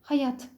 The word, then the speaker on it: hayat: uzun ünlüleri kısaltma yerindedir Hayat kelimesi Arapçada ikinci anın uzatılarak okunması şeklindedir ancak Türkçede biz onu Hayat şeklinde telaffuz ederiz hesap yine Arapçada o